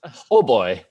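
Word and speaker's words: hautbois: french it is french the french word h-a-u-t-b-o-i pronounced ho boy that translates to high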